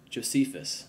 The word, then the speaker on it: Josephus: Jose Jose how you say his name Joseph Josephus there you go that's chronicl Joseph Josephus is